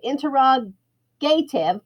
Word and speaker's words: interrogative: And then I just put little tiny question marks all around it, because when the gate opens, interrogative, think of gative, interrogative, but we pronounce it gutive.